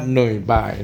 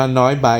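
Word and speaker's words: Nội Bài: หน่อย บ่าย นะ ครับ ก็ ออก เสียง คล้าย ๆ แต่ ว่า ของ เวียน จะ เป็น โหนด บัน จะ เป็น สิงห์ หยุด นิด นึง นะ บ๊าย บาย อ่ะ ซึ่ง คน ไทย ชอบ อ่าน ว่า น้อย ใบ สนาม บิน น้อย ใบ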